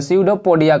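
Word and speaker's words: pseudopodia: पर लिख देते हैं, पेस्यूडो ने स्यूडो, पी यहाँ पे साइलेंट है, स्यूडोपोडिया कहते हैं, पोडिया कहते हैं।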